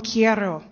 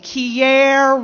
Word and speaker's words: quiero: for I love you te quiero te quiero she pronounced over and over again the wrong way no Mom quiero and she kept with the quiero quiere she didn't hear the difference my father taught us